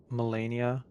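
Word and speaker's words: Malenia: Like it looks like it says like millennia, but it's Melania, which that's not something specific to her name.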